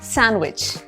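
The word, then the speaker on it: sandwich: इट इज सैंडविच बट इट्स नॉट सैंडविच एस ए एन डी डब्लू आई सी एच में जो डी है that is silent so we'll actually से सैंडविच या फिर सैंडविच दोनों सही है च भी ज भी बोल सकते हैं आप बट डी की साउंड नहीं आएगी सैंडविच आई एम हैविंग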